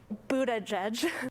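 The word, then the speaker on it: Buttigieg: Pete Buddha judge Pete Buddha judge it all boils down to the vowels Buddha judge the vowel in the first syllable is not like boo but like book o book and the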